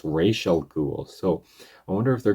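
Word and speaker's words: Ra's al Ghul: because in the Batman Begins they call him razel ghoul but it's pronounced racial ghoul.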